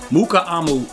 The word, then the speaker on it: Mukuamu: Mukuamu is how you pronounce it.